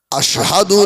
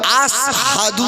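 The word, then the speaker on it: أشهد: আশহাদু আল্লা ইলাহা ইল্লাল্লাহ আশহাদু না বলে শিলের উচ্চারণটা বেলাল আসহাদু বলে সিনের মতো বলে সাহাবীরা রিপোর্ট দিল ইয়া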